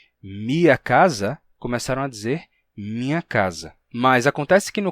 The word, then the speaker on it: minha: Bem, acontece que o M é uma consoante nasal, e a nasalidade do M terminou vazando para o elemento que vinha depois, transformando mia em minha, deixando esse I nasal, minha.